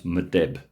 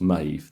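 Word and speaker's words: Medb: I always uh um thought that that was madib right but it's not I now know it's pronounced Maeve this is Maeve and this is megrim this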